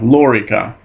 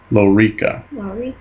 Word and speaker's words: lorica: careful excuse me yeah lorika no excuse me laurica maurica again that second last syllable is long so it gets the accent lorica stop a dagger leave